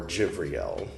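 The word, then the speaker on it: Jibril: he, of course, by the Archangel Gabriel or Gibbriel as it's known with the Arabic accent pronunciation.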